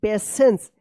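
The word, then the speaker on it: patience: learned that honesty पेशेंस देखिए यहां पे पी ए टी आई ई एन सी ई पेशेंस टी आई का यहां पे ये पेशेंस से उच्चारण हो रहा है ना श पेशेंस एंड काइंडनेस मेक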